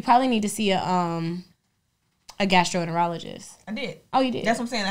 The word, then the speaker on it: gastroenterologist: Gastro. Enter. Ologist. And all together. Gastroenterologist.